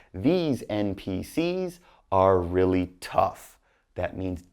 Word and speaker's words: NPCs: You say NPCs, but then like plural. So just NPCs. Don't say S.